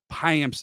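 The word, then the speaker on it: Payamps: receive right hand pitcher yoel payams from Oakland High amps is how you pronounce that last name I had to Google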